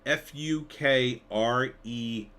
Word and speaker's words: Fukrey: but wackiness ensues uh it's spelled f-u-k-r-e-y but it's pretty it is pronounced fukrey what did poor Ray